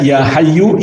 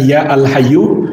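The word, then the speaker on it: يا حي: Tapi ketika kemasukan ya, maka alif lamnya dihapus maka dibaca ya hayyu ya qayyum. Begitu pula tanwinnya tidak ada. Jadi bacanya jangan ya alhyu atau ya Hayyun tapi ya Hayyu ya Qayyum begitu seterusnya.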